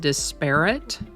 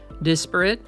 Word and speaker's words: disparate: Today's word is disparate. It can also be pronounced disparate. Either way is correct. Disparate or disparate, it's an